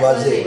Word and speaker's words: Waze: Waze. Kemarin habis presentasi Bapak ya.